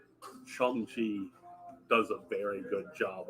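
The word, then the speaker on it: Shang-Chi: hear them tell me it's shangchi okay they make up it's like it's strong like shawn okay but no that's what i'm saying is like i've been pronouncing it wrong so obviously no but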